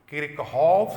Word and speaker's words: Kirchhoff: किरचॉफ, इसी को कोई लोग किरचॉफ भी उच्चारण करते हैं, उससे कोई दिक्कत नहीं।